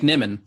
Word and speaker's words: Nimmin: You can find me at Nimon everywhere.